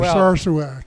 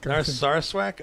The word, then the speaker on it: Narsarsuaq: Did I pronounce that correctly? I think Bob? you did pretty well. Narsarsuaq. Narsarsuaq?